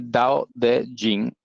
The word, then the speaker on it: Dao De Jing: en el chino pinguín se lee dao de jin que es como se debería nombrar y pronunciar y la palabra dado